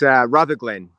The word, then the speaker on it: Rutherglen: It's Rutherglen. Rutherglen. Oh, that's an L. I thought that was an I.